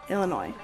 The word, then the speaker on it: Illinois: When Congress admitted Illinois, oh my god, I always forget how to say it. Illinois. No S.